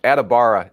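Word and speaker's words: Adebawore: a bad thing I would imagine right no adibara is how you pronounce his last name okay thank you uh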